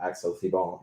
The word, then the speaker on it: Thibon: Axel, I watched another public speaking event of yours, and that's the way that the other host pronounced it. So I hope Axel Thibon is the right way to pronounce it.